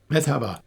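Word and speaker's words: Merhaba: metabha Oh, yeah.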